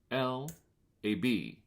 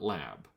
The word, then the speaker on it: Lab: CMYK grayscale and lab which is pronounced laab not lab um lab is a